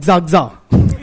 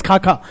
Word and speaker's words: Kaka: to while teaching I used to pronounce his name as zaga one of the students corrected me sir it's Kaka only then I got